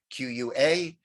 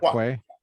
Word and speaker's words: qua: to enzo ends e-n-s q-u-a and uh enzymes ens is that how you say it in latin qua instead of quay yeah uh enzymes in